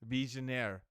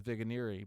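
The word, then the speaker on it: Vigenère: Visionaire. That's how you say it. I remember looking that up last year. Vigneri. You look at this cipher. Vigneri. I thought it was Vigneri, but you look online, you go, it's Visionaire.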